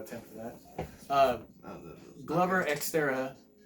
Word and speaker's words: Teixeira: Glover, Xterra, how do you say it? Butcher it, go for it. Glover Teixeira versus Anthony Smith.